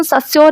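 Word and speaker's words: Saussure: तो ये सस्योर भी, इनका प्रोनाउंसिएशन सस्योर ही कहते हैं इनको, सस्योर, ठीक है।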